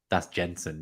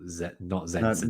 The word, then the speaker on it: Jensen: I think that I thought that might have been like the Brentford midfielder, but no, that's Jensen, not Zensen.